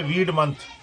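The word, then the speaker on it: Weodmonath: اچارن منتھ کرتے تھے۔ تو WEOD مناتھ، جس کا تلفظ ہوتا ہے ویڈ منتھ، یعنی ویڈ منتھ جو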